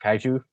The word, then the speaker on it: kaiju: You said it's pronounced kaiju.